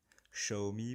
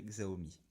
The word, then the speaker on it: Xiaomi: Xiaomi pour ceux qui veulent prononcer à la chinoise, moi je dirais Xiaomi.